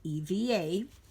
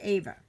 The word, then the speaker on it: Eva: So, like I said, my name is Ava, and yes, indeedy, it is spelled EVA, but it is pronounced Ava. Okay? So, please don't call me Eva.